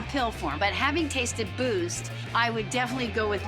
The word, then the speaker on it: BUICED: Yeah, Boost. Boost. I just like saying that word. I loved the name of Boost. The brand is actually spelled like the word juiced or pronounced like the word boost.